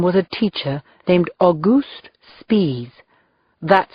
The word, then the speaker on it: Spies: One of them was a teacher named Auguste Spies. That's how he pronounced it.